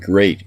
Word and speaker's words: great: don't call it deed watch out for meat and great and threat they rhyme with sweet and straight and dead a month